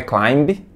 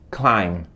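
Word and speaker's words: climb: é clean não é não pronuncia a letra b não é cleide e sim klein klein klein é como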